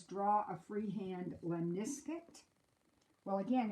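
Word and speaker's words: lemniscate: says draw a freehand lemniscut well again if you pronounce the word wrong if you say lemon escaped then you can see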